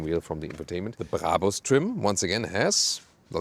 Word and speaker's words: Brabus: By the way, listen and repeat, Brabus. It's not Brabus or something. The original German pronunciation would be Brabus. Really hard German pronunciation.